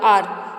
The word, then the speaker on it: hour: Example आपको दिए हैं HOUR, आर, इसे हावर नहीं बोलते, हार इसे आर बोला जाता है।